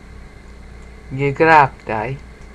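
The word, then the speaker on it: γέγραπται: So you pronounce it hon u gegraptai. Not, yeah, gegraptai. You have to sort of go with the G. Gegraptai. Alright, it's more guttural, but I'm not pronouncing it that way.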